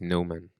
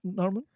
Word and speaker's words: Noman: There's no R in my name. It's just Noman. I know. It's You're not Norman? no. Norman is another name, and I'm sure they're more Norman than Noman, like me.